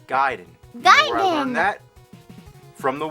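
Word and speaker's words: Gaiden: talking ninja guided everyone always said Ninja gayen but I know for a fact it's giden I learned that from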